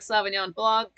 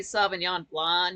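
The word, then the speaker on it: Sauvignon Blanc: that Alisa I like Savon Blan or it might be savan blond you don't pronounce the C but I just don't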